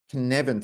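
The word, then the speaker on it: Cynefin: people talk about the kinevin framework but for me it's absolutely crucial to understanding how motivation has changed over the last 100 years and this connection framework that's how it's pronounced is a sense-making framework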